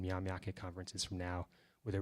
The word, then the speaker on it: Myaamia: Did you all hear Bob say Myaamia? We're actually having an influence on you, aren't we? That's how it's pronounced in Oklahoma, Myaamia.